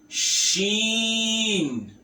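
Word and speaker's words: شين: Then we have sheen. This is see, like you are saying, I have seen you, I have seen him. Seen. This is sheen, sheen, like you want to pronounce in English she.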